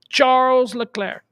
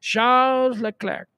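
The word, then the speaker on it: Charles Leclerc: name is pretty cool Charles L clar and you got to pronounce it like that because he's not American you better pronounce it the way he's supposed to pronounce it Charles L clar okay very cool second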